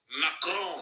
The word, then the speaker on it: Macron: Macron. That's how you pronounce it.